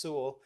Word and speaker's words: Sewell: I know it looks like Sewell, but it's pronounced Sewell.